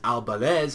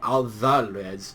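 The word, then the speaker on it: Alvarez: in English speaking language, that the next pronunciation of it is Albalez, although in the Japanese they will pronounce it Alvalez.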